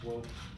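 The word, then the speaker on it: Swoope: It's pronounced Swope.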